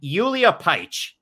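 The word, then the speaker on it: Julija Pajić: fighter representing a litany of different countries named yulia paich and it's spelled j-u-l-i-j-a-p-a-j-i-c with an accent john franklin i've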